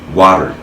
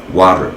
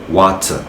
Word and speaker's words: water: notamment comme ça, disant water, water et non water. Ici, on ne doit pas sentir le T. Donc on prononce le T comme le D en fait, notamment à l'américaine, donc water, water, water.